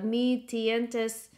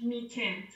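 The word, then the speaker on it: Mi-Teintes: spell it guys the me tientes I'm saying it in my Filipino way so how do you say that Margaret it's French me tent okay meat tint to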